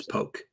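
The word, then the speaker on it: Polk: it's by the way it's poke P LK poke poke no poke poke poke silent L uh yeah cardi is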